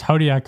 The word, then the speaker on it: Hodiac: yeah um at least podiak i think is easier it is yes that's true just rhymes with zodiac yeah that's right yeah